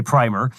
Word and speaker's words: primer: events an austrian economics primer i think that's the correct pronunciation in the in the english world but some people say primer uh by pair byland